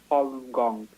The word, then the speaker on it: Falun Gong: at the in 1992 and Falun Gong is pronounced Falun Gong is an ancient Chinese spirit of discipline ladies